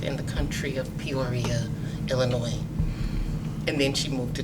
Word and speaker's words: Illinois: Don't pronounce the S. Illinois.